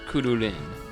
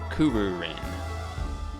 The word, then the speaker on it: Kururin: Now, I am aware of a game this is related to, which is Kururin, or Kururin, depending on how Americanized you want to pronounce it.